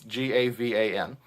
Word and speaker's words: Gavan: Gavin. I apologize if that is not the correct pronunciation. It's Gavan.